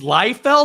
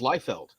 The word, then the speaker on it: Liefeld: if you know this did i say his name wrong it's lie fell this entire time i've always thought it was lightfield i don't [ __